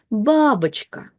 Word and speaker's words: бабочка: Now if we put it together, the first syllable is stressed, which means that this O is again unstressed. So we'll read it as бабочка, бабочка, бабочка.